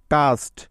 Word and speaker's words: cast: এখন তোমরা বলো তো যে এখানে সি এর উচ্চারণটা কি হবে? হ্যাঁ, ক হবে, কারণ লক্ষ্য করে দেখো যে এখানে সি এর পরে এ আছে, তাই যার জন্য সি এর পরিবর্তে নিতে হবে ক।